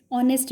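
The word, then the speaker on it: honest: ऑनेस्ट में H silent होता है, एच इज नॉट प्रोनाउंस्ड, तो ऑनेस्ट ओ की आवाज आती है, ये वाला ओ।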